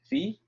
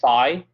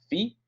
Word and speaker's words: phi: letter the pronunciation is fee or you can say phi but the proper way is fee like feet without the t at the end and then um we're